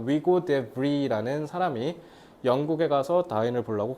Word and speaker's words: Hugo de Vries: 1878년 여름에 30살 먹은 네덜란드 식물학자인 이건 위고라고 읽어야겠다. 네덜란드 사람이니까 위고 데 브리라는 사람이 영국에 가서 다윈을 보려고 갔대요.